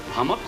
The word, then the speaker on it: Hummock: Hummock rhymes with stomach.